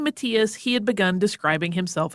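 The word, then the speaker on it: Matthias: pronounce it that way most Germanic languages say Matias so we're going with that and that's named after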